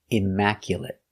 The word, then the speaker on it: immaculate: t immac imaculate Immaculate four syllables the stress is on the second syllable Immaculate Mac stress is on Mac Immaculate Immaculate completely clean